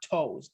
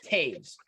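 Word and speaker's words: Toews: corrected you on this it's tapes not toes and i know it's spelled like that but it's tapes like caves with a t taves got it yeah yes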